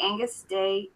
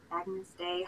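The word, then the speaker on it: Agnus Dei: This is a handmade bracelet in autumn colors with the Angus Day, is that how you say it? Agnes Day. Agnes Day.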